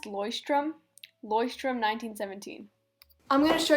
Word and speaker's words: Leuchtturm: So it's actually pronounced Leuchtturm, 1917.